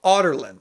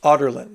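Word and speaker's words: Adarlan: which is the capital of this place called otland that's how it's pronounced otland so you're thinking in your mind oh it's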